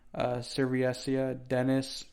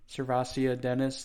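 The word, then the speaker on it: SirVocea Dennis: Serviasia Dennis, or how do you say his name? Servasia Dennis, there you go, from Pittsburgh.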